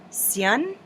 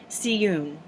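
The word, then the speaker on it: Syun: Now, it's spelled S-Y-U-N. I have pronounced it Sutton, which I know is absolutely incorrect, but I'm going to say it here. And I have pronounced it Siyun, which I'm sure is just as incorrect, but I will probably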